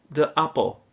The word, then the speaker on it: appel: So if you want to say the apple, you would say de appel. De appel. And apple in Dutch is spelled A-P-P-E-L. So the spelling is similar, and the sound is similar.